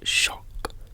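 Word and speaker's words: xoc: derives from the eucactic maya word shock pronounced shock meaning fish evidence for this etymology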